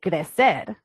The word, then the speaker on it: crecer: crecer, and it is, in Spanish, we say crecer, and it means to grow.